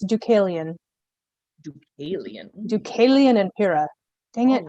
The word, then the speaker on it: Deucalion: It's hang on, I always have to look at it to be able to pronounce it because I know that I'm going to get it wrong. It's Deucalion.